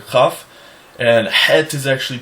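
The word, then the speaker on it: חית: the letter chaf, and het is actually pronounced differently. Het. It's a guttural H sound.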